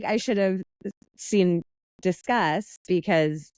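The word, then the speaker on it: Disqus: And after many, many interviews, I ended up at Discuss. Okay. Everyone thinks it's Discus because of how it's spelled. Good. But it's I Discuss.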